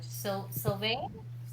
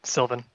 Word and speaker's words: Sylvan: Sylvain? Sylvan? Sylvan. Sylvan, thank you.